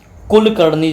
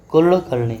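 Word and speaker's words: कुळकर्णी: कुल करणी जैसे लिखते हैं मराठी में। तो मराठी में हम लोग लिखते हैं कुलकर्णी। तो इसको क्या बोलते हैं? ये ल और ड के बीच में है।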